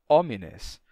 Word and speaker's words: homines: h é mudo né o h é mudo você vai dizer uma palavra como pessoas você que é que seria homines e você pronuncia homines ou essa pessoa no